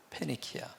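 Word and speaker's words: Φοινίκη: 건너가는 배를 만나서 탔다 그니계라고 하는 곳이 영어식 발음은 페니키아입니다 페니키아 그러면 여기 두로라고 하는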